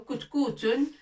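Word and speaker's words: كتكوت: Katkoutun, on dit katkoutun. Ou kutkoutun, plutôt kutkoutun. Kutkoutun.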